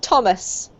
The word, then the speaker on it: Thomas: It's actually just a T sound, Carmen, so it's Thomas.